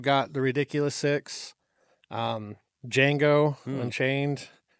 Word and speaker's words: Django: Um, Django Unchained. It's with the the D is silent.